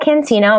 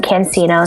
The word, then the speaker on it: Cancino: Yeah, my Twitter handle is Cancino. My first name is spelled. Last name Cancino, Cancino.